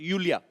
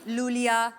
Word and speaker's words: Iulia: यूलिया यू यू yes pronounce यूलिया यूलिया एंड the spellings are आई यू एल आई ए सो आई आई you know I mean why I everyone is calling me लूलिया लोलिया बट लोलिया लोलिया आई